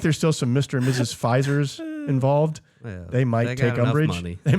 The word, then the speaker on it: Pfizer: i was them because why are you putting so much emphasis on the f because it's pronounced pfizer just get rid of the p because well i think